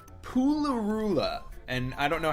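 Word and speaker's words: Pulirula: it's rule of yeah it's a poo or it's Puli Rula like PU Li are you la Puli Rula it was done it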